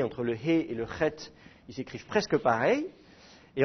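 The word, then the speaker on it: חית: Le petit point indique que la prononciation doit être dure. Alors, évidemment, c'est un son qu'on n'a pas en français. C'est un peu comme quand vous crachez, en fait.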